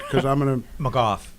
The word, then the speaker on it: McGough: i get it correct because i'm going to macoth yeah got it and it rhymes with see he already goes there he